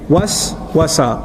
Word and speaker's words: waswasa: Was-wasa, was-wasa, was. You see the two syllables together?